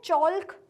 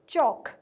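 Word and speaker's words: chalk: क्या कभी आपने टीचर को बोलते हुए सुना है? चोल्क नहीं ना? तो इसलिए उसमें एल का जो प्रोनाउंसिएशन है वो साइलेंट है। हम उसको क्या प्रोनाउंस करते हैं? चौक।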